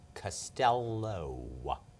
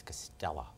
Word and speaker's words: Costello: And number two, I do not pronounce my name Costello. It's Costella.